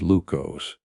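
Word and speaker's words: λύκος: The name Lucan comes from the Greek word for wolf, which is lukos, and that sounds even closer to Lucas. Only the ancient Greek pronunciation, though.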